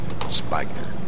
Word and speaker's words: Spigner: I think it's pronounced Spigner, isn't it? Yeah. Spigner.